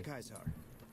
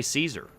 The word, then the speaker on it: Caesar: here's a better question why do people say Caesar like why would anybody in this area say Caesar if this Dude shows up saying I'm kaisar and this is Kaiser's Legion